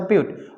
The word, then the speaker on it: but: one root butte right we write as a but but we pronounce it as a beaut okay so beauty is